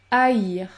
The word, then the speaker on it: haïr: Lorsque vous avez les lettres suivantes, A et I avec tréma, dans ce cas-là, vous allez prononcer le son AI, AI. Vous prononcez deux sons, AI, AI, comme dans le mot le maïs, ou encore haïr, haïr.